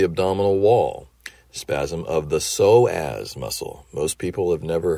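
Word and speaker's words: psoas: I do an exam soaz is spelled uh the Greek it's a Greek word so it's spelled PS o a s p is silent so as muscle this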